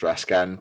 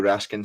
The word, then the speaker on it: Raskin: We saw Raskin. I was going to go for Ross's Raskan pronunciation there and then thought better of it.